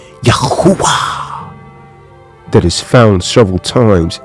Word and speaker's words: Yahuwah: So the correct way to pronounce it is Yahuwah.